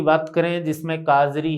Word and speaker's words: CAZRI: तो सबसे पहले अपन बात करें केंद्रीय शुष्क क्षेत्र अनुसंधान केंद्र, जिसको संक्षिप्त में दोस्तों काजरी कहते हैं। इस काजरी की पूरी डेफिनेशन देखना, स्पेलिंग है आपके सामने CAZRI।